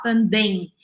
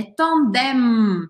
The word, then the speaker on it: tandem: uma coisa interessante, que como a palavra termina com M, eu pronuncio esse M. Eu não posso fazer, como em português, um som anasalado simplesmente. Eu não posso falar tandem. É tandem. E eu formo a letra M no final, ok?